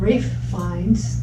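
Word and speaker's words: Ralph Fiennes: is the brother of rafe fines they're both british actors they're just old man finds kids yeah that's right their names are not spelled the way they're pronounced but i am pronouncing them correctly after those yeah but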